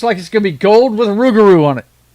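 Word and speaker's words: rougarou: The rugaroo. Come on, MAN. YOU GOT TO GET HYPED FOR THE RUGAROO. NO. NO. It's Louisiana, bro. Rugeroo. Rugeroo. Rugaroo. That's how you say it.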